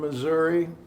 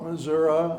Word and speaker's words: Missouri: drove home from Missouri. And let me just talk about pronunciation. Ryan and my brother call it Missouri. I call it Missouri. Apparently, both are acceptable.